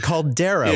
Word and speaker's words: caldera: this cabin there, and Alan helpfully tells us that it's a caldera because he doesn't know how to say caldera. And I thought he was just mispronouncing cauldron. no, it's a caldera, which I mean does mean cauldron.